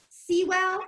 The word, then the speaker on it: Sewell: LinkedIn would be my name and it actually looks like Sewell s a wel l but it actually pronounce I used to say rhymes with drool su but it actually rhymes with jewel.